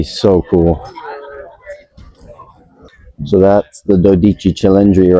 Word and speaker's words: Dodici Cilindri: So that's the Dodici Cilindri right there. That's how you pronounce it in Italian.